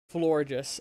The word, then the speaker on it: Florges: It's pronounced, like, gorgeous, but with FL instead of the G. Florges.